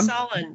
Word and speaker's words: Solon: Most recently, she wrote the story, What Would I can't pronounce this. Is this Elana? Solon. Is this Solon? Yeah, Solon.